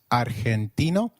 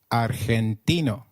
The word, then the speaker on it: argentino: Did you notice that argentino is pronounced as argentino. In Spanish, g when followed by e or i is pronounced like a throaty h. So try saying argentino again. Argentino.